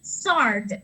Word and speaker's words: sword: I thought that first looking at the word sword, SWORD, that we use as a weapon, that is actually sword. We have to pronounce that as sword. And I was like, okay, English is a complete puzzle.